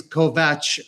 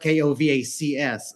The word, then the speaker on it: Kovacs: It's the last name is Kovatch, but since I Okay. Well, it's pron it's spelled K O V A Cs. So, I people started saying Kovac and I'm like, you know what? I'll go with that.